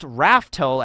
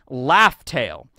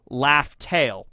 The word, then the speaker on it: Laugh Tale: And it's not actually spelled, it's not pronounced Raftel as in like a raft. It's Laugh Tale, which R's and L's in Japanese can be kind of swapped out. So not Raftel, Laugh Tale.